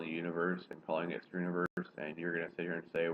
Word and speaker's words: Struniverse: No, STR, yeah, Struniverse. It's like STR with the universe, but it's pronounced Struniverse.